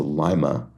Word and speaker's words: Lima: And then Ohio City whose name is pronounced with a long I. All right. So Lima, Ohio.